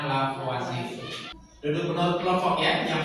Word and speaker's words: Lavoisier: Tulisnya Lavoisier, bacanya Lavoisier.